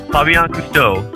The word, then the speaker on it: Fabien Cousteau: man on petlife radio my guest today is Fabian custo third generation Ocean Explorer filmmaker and environmental Renaissance